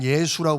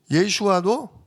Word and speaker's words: 예슈아: 우리는 예수라고 부르는데 원래 정확한 발음은 예슈아입니다. 예슈아. 예슈아도 여호와여 우리를 뭐 하소서?